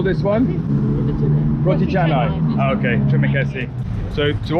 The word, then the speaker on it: roti canai: There's a couple of you that say to me I'm pronouncing roti canai wrong, and you're saying it should be pronounced roti. How do you call this one? Roti canai.